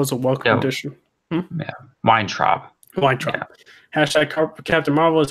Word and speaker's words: Weintraub: And then Stephen Whitechomp, I think that's how you say it. He's for Collider. Hashtag Captain Marvel is a welcome addition. Yeah, Weintraub.